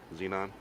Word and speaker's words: xenon: what it is folks what is the x pronounced with the z xenon yeah i think so